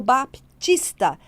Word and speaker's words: Baptista: mesma forma do Batista Quantas pessoas tem o Baptista que é o p né mudo e agora não tem